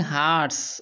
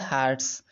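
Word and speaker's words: heart: फिर है crumbling हार्ट्स, और देखिए ये है हार्ट, इसको कई लोग हर्ट पढ़ते हैं, लेकिन जो सही इसका प्रोनाउंसिएशन है दैट इज़ हार्ट्स, हार्ट।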